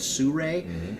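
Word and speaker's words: Sirui: excited about sue Rey it looks like it's spelled like suru but if sue Rey and I've used their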